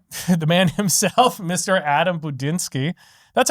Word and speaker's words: Budínský: Adam Budinski. That's how you pronounce your last name, right? Yeah. Budinski. Budinski. Budjinski. It's like the long I.